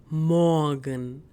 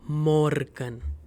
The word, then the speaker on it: Morgen: Pay attention here that I'm not pronouncing this R. So most of the time, whenever this R comes in a German word, it's silent most of the time. So Guten Morgen and not Morgen.